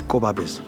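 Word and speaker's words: Gobabis: we face with place when you put them together it's kobabis that's a right original pronunciation of the of the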